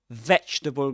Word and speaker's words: vegetable: Vegetable grower. Vegetable grower. So, vegetable. Vegetable. Vegetable. Only three syllables.